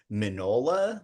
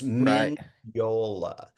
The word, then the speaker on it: Mignola: Uh, and if you just say it's a silent G, then you get minola, which is terrible. It's Miniola.